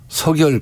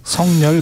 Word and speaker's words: 석열: 명박산성에 이어서 서결 가벽. 국민과의 소통을 단절하겠다. 이런 거거든요. 성렬 가벽. 예. 정확한 발음은 예.